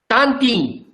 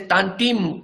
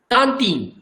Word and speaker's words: tantim: Tantim. You cannot pronounce as tantim. No. Tantim. Ta. Here there are 2 nasalization. T-A-N. Ta. Ta. Tin. Tantim.